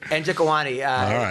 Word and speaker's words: Njokuani: Njokuani.